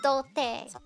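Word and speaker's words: 童貞: It's dote.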